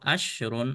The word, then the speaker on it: عشر: Lihat untuk ashrun atau 10, kalau tanpa tak marbutah huruf shinnya dimatikan ashrun.